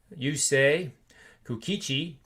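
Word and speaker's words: Yusei Kikuchi: But we have Herman going up against Yusei Kukichi, and that's exactly how you say it.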